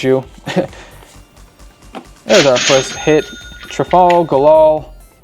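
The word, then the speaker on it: Trafalgar: Trafal Gal. Trafal Gal. Trafal Golal. Sounds like one word, but that's how you say it.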